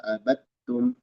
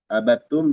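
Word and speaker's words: عبدتم: Abidun ma abattum. Abattum dal idgham ke ta. Jadi bacanya dari ba langsung ke ta. Abattum. Dal hilang sama sekali.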